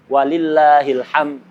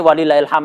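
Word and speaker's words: ولله الحمد: Walillahilhamd. Ini walillahilham. Ini poin yang bisa menentukan itu dia bacanya didasari ngerti atau cuman ikut-ikutan. Kalau ikut ikut-ikut walillahilham gitu.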